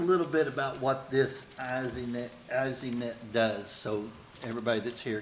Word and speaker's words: ESInet: EZNet is a How do you say IP-based, EZNet.